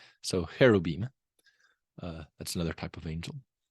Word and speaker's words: cherubim: You might hear of the cherub, which there's not really a ch in Hebrew. If you ever see ch, it is probably originally pronounced like h. So cherubim.